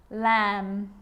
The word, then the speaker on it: lamb: with the letter B it's always silent when it follows the letter M climb Krum lamb thumb dumb and plumber so practice them with me I'm not pronouncing the B I'm just pronouncing the M consonant sound climb Krum lam some